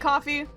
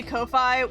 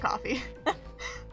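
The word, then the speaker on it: Ko-fi: It is pronounced like coffee. Um I think sometimes it's just easier to say Kofi when you're talking about the website.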